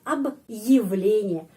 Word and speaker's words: объявление: Jadi ab di sini stop sebentar karena ada tanda penguat. Ab ylen. Ab ylenye.